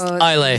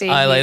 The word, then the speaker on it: Islay: So that's Islay. That's an Islay. Yes, Islay. That's how you pronounce it. Islay. It's not how it now looks. I know. It's not how it looks, but it's pronounced Islay.